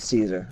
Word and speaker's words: Cesar: Okay, Cesar. It's spelled more like the Mexican or Spanish pronunciation would be, but Caesar.